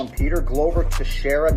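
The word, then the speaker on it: Teixeira: call him peter glover to shara not texera to sarah and the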